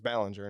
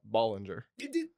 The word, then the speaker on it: Ballinger: I I get that one because it took me over a year to figure out that uh Ballinger is Ballinger, not Ballinger. Ballinger.